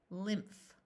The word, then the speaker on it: lymph: Lin, PH says f, lymph, nymph, mystic, crypt.